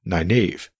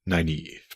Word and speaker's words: Nynaeve: way that one would think her name is pronounced Nynaeve, but it's actually pronounced Nynaeve, but I drift.